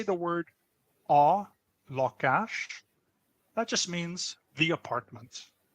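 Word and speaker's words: lakás: The word for apartment in Hungarian is pronounced lakash. It sounds like the English word for law. Sounds like the English word for cash.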